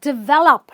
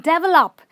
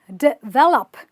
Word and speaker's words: develop: word again a super mispronounced word like everyone mispronounces it it's develop not develop it's d so you stress the valve you go develop i will develop this software do you develop software i want